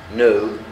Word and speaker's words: know: eat يأكل، drink يشرب، know يعرف عندك الكي silent، say يقول come يأتي